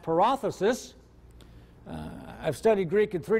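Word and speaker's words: παράδοσις: a d OS is in modern Greek it would be pronounced paralysis I've studied Greek in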